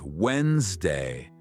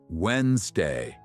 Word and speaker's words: Wednesday: Now, this word is a little tricky. We say it like Wednesday. The middle D is quiet. Wednesday.